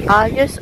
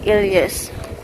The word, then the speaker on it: Ilias: Alias or Ilias? It's an Ilias massage specialist.